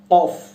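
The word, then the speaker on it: ك: আরেকটা যেটা আছে সেটা হচ্ছে কাফ, সেটা জিহ্বার মাঝখান থেকে উচ্চারণ হয়।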